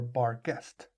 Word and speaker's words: Barghest: in Yorkshire it is referred as the bargist as it's spelled in the card a bar just b-a-r-g-e-s-t or bar guest you guys are all